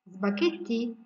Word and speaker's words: spaghetti: Spaghetti, spaghetti. Yes, also I am not pronouncing letter H because it's a silent.